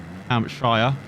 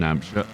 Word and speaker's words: Hampshire: And he's got Arche Hampshire. I said Hampshire last year, but that's the British saying. Because we have a county in Hampshire. Hampshire. American pronunciation.